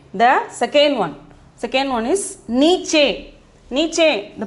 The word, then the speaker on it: नीचे: नीचे. The pronunciation is नीचे.